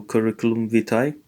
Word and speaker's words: curriculum vitae: Roma romai my I so the AE together uh correct curriculum curriculum vitae so just like CV so curriculum vitae that's how you pronounce this so here we are